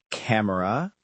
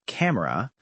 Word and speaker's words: camera: Other examples are camera becoming camera and family becoming family.